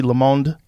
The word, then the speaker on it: Le Monde: The Atlantic, The Texas Tribune, Gannett, Washington Monthly, Le Monde, is that how you say it? Yeah, Le Monde.